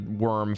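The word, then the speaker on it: wyrm: And worm is spelled like the worm for dragon.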